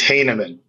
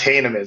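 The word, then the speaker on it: Heineman: to interrupt but for the record it is Hanan okay his name is pronounced heaman so for everyone out there but I asked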